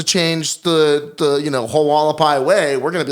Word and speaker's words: Hualapai: the the you know hualapai way we're going to be like no dude it's whole it's freaking hard first of all there's no h in it well how do you say it wala pie did we just lose